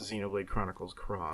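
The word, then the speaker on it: Xenoblade Chronicles X: X yeah no it's it's definitely the letter X but it's pronounced Xenoblade Chronicles cross oh my God next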